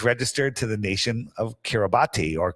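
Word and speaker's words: Kiribati: and it was registered to the nation of Kiraabati or Karabas it's pronounced.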